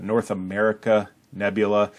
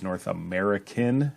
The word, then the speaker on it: North America Nebula: bit more about it North America Nebula it's often miss pronounced or misread as North American it's actually North America nebula also known as NGC